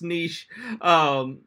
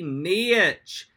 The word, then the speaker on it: niche: social is that that says it's pronounced niche he has British rage on this one but I'm American uncle social I got to say niche it's got two syllables it's got a diphthong it's me so it's